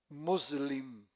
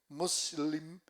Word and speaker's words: Muslim: Muslim, M U S i L. Muslim, que traduce musulmán, que traduce paz salam.